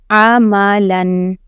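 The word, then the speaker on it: عملًا: And after the Lam there is Alif. But I told you that that Alif is, you have to drop that letter, okay? That is a silent letter. The letter which does not have Zabar, Zair, Pesh, anything, you just have to drop that letter, okay? So it is Amalan.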